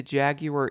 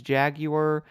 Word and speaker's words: Jaguar: seen for these cars, I always hear this being pronounced as Jaguar, and then some people say Jaguar, so I guess it's going to be like tomato, tomato, but this race is honestly going to be insanely easy.